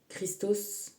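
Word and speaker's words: Χριστός: Le doré, ça se dit Christos en grec. Et on ne prononce pas trop le K.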